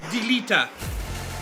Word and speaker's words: Delita: How do you pronounce his name? Delita.